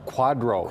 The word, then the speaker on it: QDRO: QDRO.